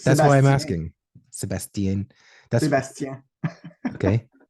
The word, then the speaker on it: Sebastien: out um all right Sebastian am I pronouncing your name right because absolutely Sebastian yeah okay I didn't know I'm actually French so it's that's why I'm asking Sebastian that's the best yeah